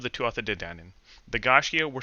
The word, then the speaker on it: Gaiscioch: In any case, our name, Gaiscioch, pronounced Gaiscioch. There are 1,000 ways to mispronounce it. Um, the version I've learned is Gaiscioch. There's also Gaiscioch if you're from the northeast of Ireland.